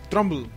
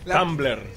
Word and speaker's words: Tumblr: Trumbull. ¿Cómo se dice? Trumbull, ¿verdad? Tumble. ¿Tiene R o no tiene R? Trumbull. ¡Ah! Tumblr.